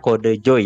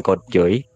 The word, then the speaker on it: KodeJoy: Gitu, dan juga Twitch username-ku dibacanya Kode Joy ya, guys ya, bukan Kode Joy gitu.